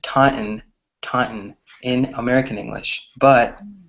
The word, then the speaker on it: Taunton: right so it's pronounced Taunton Taunton in American English but British people just say Taunton or they actually pronounce the t's right another word is